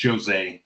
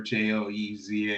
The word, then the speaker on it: Jose: it's Jose. If Jose, you remember, okay. yeah, if you remember Joezay, you'll never get it wrong.